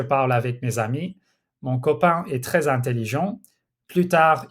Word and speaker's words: copain: If you were to, say, pronounce the N at the end of words like copain, so you pronounce it like copain instead, that's a mispronunciation, so you could be penalized for that, for instance, as well.